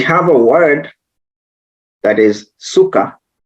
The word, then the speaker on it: sukkah: a word that is sukkah it's exactly pronounced the same way and then Swahili we